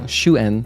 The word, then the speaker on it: Shuen: Or Suen? Oh, it's probably... Oh, Shuen. That's how you would pronounce her name. If this is written out phonetically like it would be written in Korean, this is Shuen.